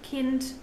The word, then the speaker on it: Kind: In German, D is often pronounced as T as well, like in Tod, Kind, Bad.